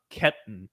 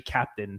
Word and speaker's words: Keptn: so i used i i used to pronounce it uh ketten right so like trying to pronounce it like the german way but you know you know andreas told me it was uh it's actually captain so um talking about